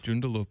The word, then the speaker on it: Joondalup: Joondalup. Is it Joondalup? what is it? I don't know Yes. how else I'd pronounce it.